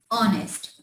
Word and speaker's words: honest: It's honest. We take start from a vowel sound O.